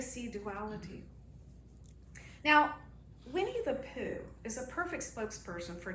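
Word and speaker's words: P'u: It's p apostrophe u, and it's like a softer u poo. Poo, like you're blowing out, blowing a little insect away from your mouth.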